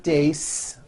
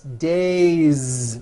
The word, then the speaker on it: days: ending you see that another example the word day it ends with the vowel sound a so you have one day or two days it's not days on voice it's days with a voiced Z ending next one Sho one